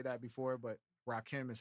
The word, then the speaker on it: Rakim: The collab with Rakim. Yeah. Is that how you say his name? Rakim or Rockheem?